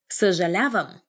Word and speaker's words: съжалявам: And I'm sorry, but a lot of people find difficulty pronouncing the... Now I'm having difficulty speaking. Pronouncing the in the beginning, because we have this sound.